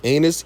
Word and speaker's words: anise: Anise extract and cinnamon. Y'all, I swear that's how you pronounce it.